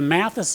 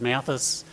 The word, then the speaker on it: Matthes: evans and matthew toro we'll talk later about the pronunciation of mathis most people know it as mathis so that's the pronunciation i'm going to use today the next